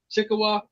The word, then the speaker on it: Chickasaw: Chickasaw, Indian from Mississippi.